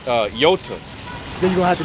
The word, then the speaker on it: Iota: In the Greek, the I is pronounced, well, it looks like an I, but it's pronounced Iota. Iota. You pronounce it with the E sound.